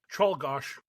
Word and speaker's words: Czolgosz: Czolgosz.